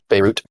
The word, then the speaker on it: Beirut: I read the title of my uh is it Beiru? Am I saying that right? Is it French colonist? Beirut. Beirut. Beirut. You pronounce the T.